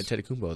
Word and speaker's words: Antetokounmpo: Antetokounmpo, that's how you say it? Yeah, Giannis Antetokounmpo.